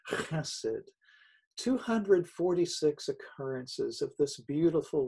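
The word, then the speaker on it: חסד: love, which translates the Hebrew word chesed, H-E-S-E-D, pronounced chesed.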